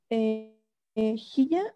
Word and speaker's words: Hiya: ¿Que se nos haya pasado a notar aquí? ¿O si tienen alguna duda antes de continuar? Hiya, o no sé cómo se pronuncia, es como hola también. Ajá, se pronuncia haya.